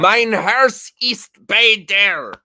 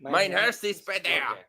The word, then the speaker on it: Mein Herz ist bei dir: Mein Herz ist bei dir.